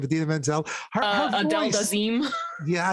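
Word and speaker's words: Idina Menzel: How did John Travolta pronounce her name? Adina Menzel. Her Adele voice. Dazeem. Yeah, Adele Dazeem.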